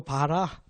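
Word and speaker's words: ברא: 말이에요 5 한번 읽어봅시다 봐라 히브리어 마라 말고 봐라 이게 이제 b 발음 나는 거야 이건 r 바르다고 근데 히브리어는 보통 뒤쪽에 강세가 붙어요 봐라 아 봐라 이게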